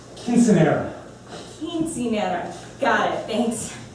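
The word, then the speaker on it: quinceañera: That's pronounced quinceanera.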